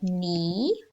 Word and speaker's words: knee: climb the silent k remember the silent k after the sun and k we always have a n or a n so let's have a look we've got knee knit i knit a jersey knight